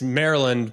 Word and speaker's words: Maryland: my buddies from Maryland you say it's it's Maryland but it's like Merlin the Wizard that's how you got to say it if you're gonna say